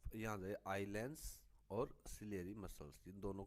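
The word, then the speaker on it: ciliary: ठीक है, अब देखिए जो सिलेरी ग्लैंड्स, सिलेरी बोलते हैं उसको, इनका उच्चारण होगा सिलेरी।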